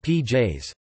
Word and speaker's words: pies: For example, pies, dog, is pronounced pj's.